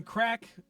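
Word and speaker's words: craic: And by the way, again, crack, Irish term, I think it's C-R-A-I-C. C-R-A-I-C.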